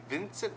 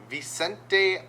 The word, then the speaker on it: Vicente: We're taking Joshua Van Vincent. No, not V. There's no N. Vicente Luke over Kevin Holland.